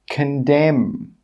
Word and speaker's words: condemn: The letter N is normally not pronounced when it's after the letter M at the end of a word. Some example words are column, autumn, solemn, condemn, hymn.